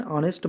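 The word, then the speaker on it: honest: जैसे कि पहला क्या लिखा है, एन ऑनेस्ट मैन, तो यहाँ पे जो एच है वो साइलेंट है दोस्तों, इसीलिए ऑनेस्ट आ रहा है, तो इसीलिए ये जो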